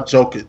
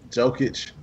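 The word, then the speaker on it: Jokić: We got, how do you pronounce this dude's name? Nikola Jokic. Jokic.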